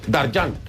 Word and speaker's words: Dargent: Dargent. No, pero yo no te quiero decir de todo. Eduardo Dargent, así es como se pronuncia.